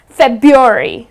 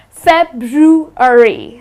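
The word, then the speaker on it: February: it incorrectly the well the way they pronounce it is faberry they tend to drop the are but that's incorrect the correct pronunciation of this month is fab drew re okay so it's something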